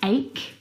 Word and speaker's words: ache: And there are quite a few English words that actually have this same pronunciation of the CH combination. Words like stomach and ache. The CH in all of these words is pronounced like a K sound.